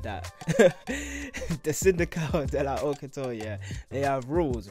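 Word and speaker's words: Syndicale de la Haute Couture: So like the syndical de la haute couture, have to say it like that. The syndical de la haute couture, yeah, they have rules, right?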